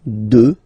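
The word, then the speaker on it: deux: Final X not pronounced, okay? 2.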